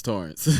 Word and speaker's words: Tarrance: exactly but it's uh torrance right yes so spell t-a-r-r-e-n-c but pronounce torrance yeah so if you're